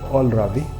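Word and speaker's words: kohlrabi: উলকপির ইংরেজি হচ্ছে অলরাবি, অথবা আপনি নলও বলতে পারেন। KOHLRAVI রাবি, অল রাবি। KNOL নল, KNOL। আমরা জানি কেটার সামনে হলে ইংরেজি কেটার উচ্চারণ আসে না, এই জন্যই অল রাবি নল অল।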